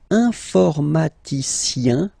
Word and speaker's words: informaticien: And the last group is IEN, informaticien, yin, yin, yin. So that's the way to pronounce this IEN, yin, yin.